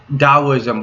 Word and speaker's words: Taoism: there's a there's there's a thing called taoism and it's uh what they daoism but it's spell it's spelled different but the thing is